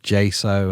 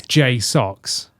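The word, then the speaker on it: JSAUX: They told me it's J-Socks. And that's coming directly from them. Okay. I said to them, right, what do you want me to say? Because I'm saying like J-So, J-Socks. It looks like JSO. It does, doesn't it? They're like, yeah, just go with socks.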